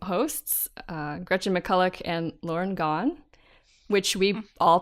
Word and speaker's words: Gawne: Yeah, but she's nice and says that it's okay to pronounce it like Gawne, as in Gone Girl.